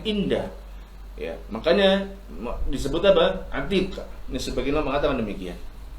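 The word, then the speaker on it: عتيق: Yang pertama yaitu Atiq. Atiq siapa? Ain, ta, ya disukun, kemudian apa? Qaf. Atiq. Ya. Pakai qaf ya, bukan pakai kaf. Tapi pakai apa? Pakai qaf. Atiq.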